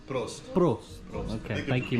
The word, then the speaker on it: Prost: Dankeschön in Post? Prost.